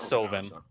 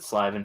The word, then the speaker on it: Sylvan: Sylvan or Slyvan, depending on how you want to pronounce it, because some people pronounce it Slyvan for some reason.